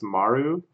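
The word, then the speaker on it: まる: And there the circle is pronounced Maru.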